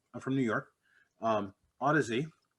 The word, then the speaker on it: Audeze: from new york um odyssey did i get it right that's actually correct okay cool all right